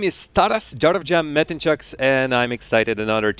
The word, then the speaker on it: Metencu: My name is Tas Darovjam Metenuk and I'm excited and honored to be here to be presenting the second day of Middle East qualifiers for Epha season 4.